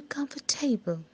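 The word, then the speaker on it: comfortable: दूसरा बार सही समझे, कम्फर्टेबल यानी कि जो मैंने सेकेंड टाइम बोला, आर यू कम्फर्टेबल, आर यू कम्फर्टेबल, ये सही उच्चारण है।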